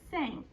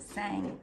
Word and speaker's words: sank: Say sank. Sank. Tap it. Tap it. Sank. Can you tap that for me? Well, not sang, sank.